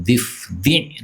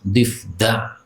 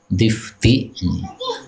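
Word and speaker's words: ضفدع: Di situ tertulis difda atau difdi difd menurut para ulama yang lebih kuat itu difdi dengan kasrah dal. Adapun orang-orang awam mereka membacanya dengan fathah difda ya. Sejak kecil saya juga bacanya difd tapi ternyata menurut ahli bahasa malah yang benar difdi.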